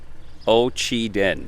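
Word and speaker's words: Ocheyedan: digest once said that ocheden is the hardest to pronounce town name in the entire state of iowa ochi den that's how you say it ho chidan now you know also just walking around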